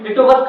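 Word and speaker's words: Litovsk: नाम लिटोवियस्की, ठीक, ऐसे स्पेलिंग है, तो लिटोवस्क नाम है उसका, लिटोवियस्की ऐसे याद करना, ठीक।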